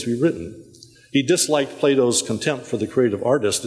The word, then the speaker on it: Plato: someone else number four Plato rhymes with tomato as Thomas eigen says